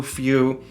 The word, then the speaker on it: feu: F E U, Feu. But the technical term, because this is French, is Feu, which means fire.